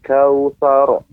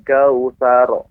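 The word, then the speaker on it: الكوثر: Inna a'tainakal kautsar. Thar, pengucapan sa tetap dia dalam posisi tipis ya, tidak tebal, maka yang tebal ada ro-nya. Thar, thar. Bedakan pengucapan sor. Nah, ini besar sa-nya.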